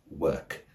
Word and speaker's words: work: experience is the word work w r k the O spelling pattern normally prompts the non-native speaker to pronounce it more like war or walk which is understandable because